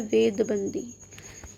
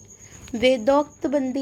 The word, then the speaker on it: वेदोक्त बंदी: अगला हमारा हिंदू समाज की जो बेड़ी इन्होंने बताई वो है वेदबंदी। वेदोक्त बंदी है वैसे तो इसकी प्रोनाउंसिएशन। वीडी सावरकर का मानना है